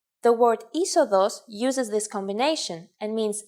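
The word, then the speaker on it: είσοδος: If you sound out the first 2 letters, you get E, but actually you would pronounce the whole combination simply as E. The word isodos uses this combination and means entrance.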